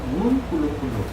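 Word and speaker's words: uNkulunkulu: 그런데 발음은 hurt예요. hurt. 근데 아프리칸스 사람, 그 아프리카에 있는 줄루족 사람들 하나님을 운꿀루꿀루 라고 불러요. 운꿀루꿀루. 한번 해볼래요? 운꿀루꿀루.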